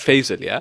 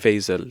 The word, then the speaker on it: Faisal: So for example, like Faisal, So everyone pronounces it with a Z, like Faisal, Faisal. But no one really says Faisal.